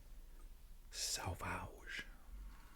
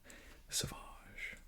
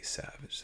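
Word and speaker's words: Sauvage: what it is Salvage I'm just kidding don't pronounce it like that saage that's okay if you just say Savage though that's what what everybody says got that Savage it's amazing they put one more letter in there that people are unfamiliar with the U and it totally throws them like so sausage it's like no nope that actually isn't bad you literally pronounce it like sausage with a v i don't know why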